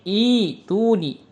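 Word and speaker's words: ائتوني: Ini kalau kita baca wasal am lahum sirkum fisamawati fisamawati kalau kita ibtida menjadi ituni. Jadi hamzahnya diganti menjadi huruf ya.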